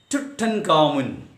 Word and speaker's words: Tutankhamun: There is a king in Egypt, and his name in Egyptian way of pronunciation Tutankhamun. Actually, it is Tut-Ankh-Amun.